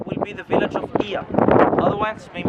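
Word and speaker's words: Oia: Of the island will be the village of Ia. Otherwise, maybe pronounced as Oya. In Greek, when we put an O and an I, it directly becomes I. So it is pronounced Ia, yeah?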